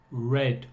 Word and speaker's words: read: La pronunciación de read en el pasado es red, como el color red, rojo.